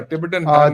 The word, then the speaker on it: Tibet: The first T in Tibet is soft.